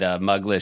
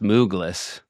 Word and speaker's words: Mugless: Somebody did say, I can't believe you guys, not one of you said Mugless should be pronounced Moogless after we spent so much time On Douglas.